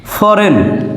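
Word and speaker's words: foreign: আই জি এন এখানে জি এর উচ্চারণ বাদেই উচ্চারণ হয়েছে রেন রেন যার অর্থ শাসন ফরেন আমরা ফরেন শব্দটা সবসময় দেখি এফ ও আর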